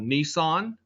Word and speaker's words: Nisan: In the Hebrew calendar, it fell on the month called Nisan. That's not spelled exactly like the car. It's spelled N-I-S-A-N, Nisan, 1S.